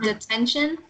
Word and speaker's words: detention: And detention? Detention. Okay, so the TEN right here is pronounced like the number 10.